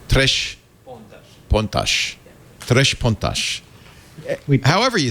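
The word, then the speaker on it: Três Pontas: I was saying it's Spanish, and it's, of course, Portuguese. It's from Brazil. So instead of the sibilating S, more of a sh. Tres pontas. Tres pontas.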